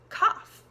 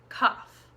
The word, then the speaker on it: cough: the next word is cough cough and this is kind of similar to ruff because it does have that F sound but the vowel is different so listen in ruff